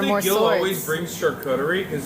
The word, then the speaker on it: charcuterie: It's pronounced charcuterie in Turkish and charcuterie in French. Say the Turkish one again. Charcuterie. I like Or charcuterie in French, which is the original word.